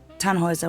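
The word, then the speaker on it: Tannhäuser: what's your name Tannhauser we'd pronounce it tan Wazza with an umlaut German roots yes my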